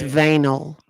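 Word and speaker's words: Vanae: It's pronounced vinyl.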